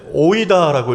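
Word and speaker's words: οἶδα: 오이다라고 읽는 헬라어예요.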